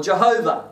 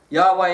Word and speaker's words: Yahweh: the our way or Jehovah depending on how you want to pronounce that Yahweh is most likely the most accurate way of saying it so there's whenever we